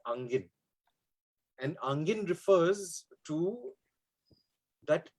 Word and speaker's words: Angin: the word they use is spelled A-N-G-I-N. They use it as Angin.